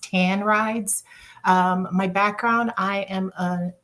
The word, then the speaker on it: TAN Rides: We're pronounced TAN Rides.